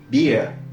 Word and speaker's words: beer: Par contre, lorsqu'il est censé prononcer le son /i:/, suivi d'un R, il prononcera plutôt /ɪə/, comme, par exemple, avec Been mais Beer.